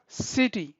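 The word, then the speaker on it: city: مثال ګوره سیټي، موږ سیټي وایو ولې ځکه د سی وروسته آی راغلی.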